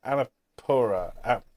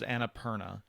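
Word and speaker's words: Annapurna: by Beth Hovind and Dinosaur and published by Anapura. I knew I'd get the name wrong. Annaperna. It's a cat food company. Like there it's Annaperna or Annapir. Annapirina is the cat. This is Annaperna.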